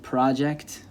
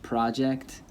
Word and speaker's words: project: So you get the word project in English, project, that's a noun, that's a thing. I have a project for school. If you move the stress to the second syllable, by which I mean the last syllable, is project.